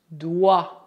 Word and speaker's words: doigt: Para citar apenas os casos mais comuns, o G é mudo nas palavras vin e doigt. Cuidado, o T também é mudo.